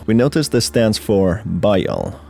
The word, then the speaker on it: Bael: Altering the pronunciation a little, we notice this stands for Bael. Bael, not to be confused with Baal, which at times have been interchangeable, is the principal king of hell.